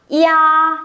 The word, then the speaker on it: ya: như thế này và vẫn đọc là ya. Chính xác. Đừng bác nào đọc là ra nhá. Nhiều người mới học xong cứ đọc âm này là ra ra ya ra gì đấy là nó không được chính xác nhá.